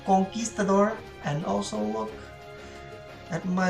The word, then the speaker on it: Conquistador: Obviously, the Conquistador, and it is pronounced Conquistador, and also look at my lovely brick that I drew.